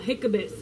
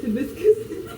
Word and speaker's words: hibiscus: My sister used to laugh at me because I used to say that it said hiccups instead of hibiscus, but it's hibiscus.